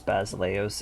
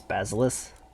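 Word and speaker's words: basileus: you're now the basileos you know how many people I hear pronounce basileos as basilis it's like it's not Harry Potter so yeah we got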